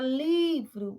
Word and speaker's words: livro: Na palavra livro, você vê que o li é a sílaba tônica.